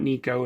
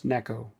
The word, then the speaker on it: Neko: So not Nico, it's Neko.